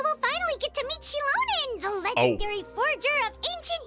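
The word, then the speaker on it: Xilonen: Forge those things okay I was saying that 100% wrong this entire time okay chilonin so you pronounce the ex like a like a Chinese X then interesting all right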